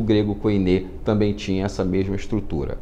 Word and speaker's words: koiné: A gente entende que é koiné, porque o eta, que é equivale ao nosso e, ele se pronuncia com o e fechado, não o e aberto com o sinal do acento agudo, e sim como se nós tivéssemos o acento circunflexo nele.